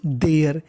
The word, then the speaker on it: there: THERE देयर, इसे हम लोग देरे नहीं पढ़ेंगे, इसमें आखिरी में ई है लेकिन हमें ई का उच्चारण नहीं करना।